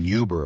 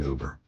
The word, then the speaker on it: Uber: So, yes, I know some people pronounce it Uber or even Yuber, apparently, but I like the 100% French style pronunciation Uber.